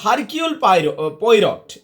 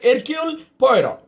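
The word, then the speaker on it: Hercule Poirot: গোয়েন্দার নাম আবার বড়ই অদ্ভুত, এমনি যদি আক্ষরিক অর্থে যাও এমনি হবে হারকিউল পয়রট, এমনি দাঁড়াবে, কিন্তু এইচটা সাইলেন্ট আর টিটাও সাইলেন্ট। তাহলে কি দাঁড়ালো ব্যাপারটা? এরকিউল পয়রট, এইরকম কিছু একটা অদ্ভুত অদ্ভুত উড়ে নাম।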